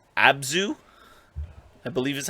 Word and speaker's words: Abzu: So there's a game called Abzu, I believe is how you pronounce it.